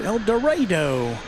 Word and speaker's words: El Dorado: Arkansas folks usually pronounce it El Dorado.